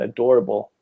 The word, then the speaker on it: adorable: mmm adorable durable yeah adorable this one has four syllables adorable and door has the strong strong accent adorable adorable adorable No